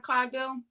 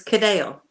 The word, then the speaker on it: Cadell: Did I say Brad Coghill? It's Cadell. Cadell. Yep. Oh, nice. I've been saying it wrong forever.